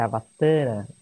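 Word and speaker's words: अवतार: Avatara é um termo sânscrito, e a pronúncia correta é Avatara, com o A do Tar, com um tio.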